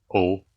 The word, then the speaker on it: eau: And eau, like this, it's pronounced O, the same as the one I just write before, right?